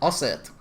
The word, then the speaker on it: ASEET: ASEET. ASEET. Okay, and versus Wargaming Pay to Win. Deep E or like long E, ASEET.